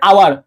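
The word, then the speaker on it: hour: হাওয়ার, আমি কি বলি হাওয়ার বলো, আমি কি বলি হাওয়ার, হ্যাঁ আমি কি বলি হাওয়ার, না আমরা কি বলি, আমরা বলি আওয়ার, কি বলি বলতো, আমরা বলি আওয়ার।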